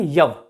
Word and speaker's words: यव: जौ जो होता है, इसका सही उच्चारण क्या था, यव। यव याद रखिएगा, ऋग्वेद में अगर आप पढ़िएगा तो वहां पे यव लिखा हुआ, यव यव, लेकिन ये बिगड़ते बिगड़ते बिगड़ते बिगड़ते क्या हो गया, जौ हो गया, बाड़ले जिसको बोलते हैं जौ।